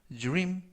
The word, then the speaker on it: dream: 이때 dr 발음이 주르, 그래서 dream 이라고 발음하시면 좋겠습니다.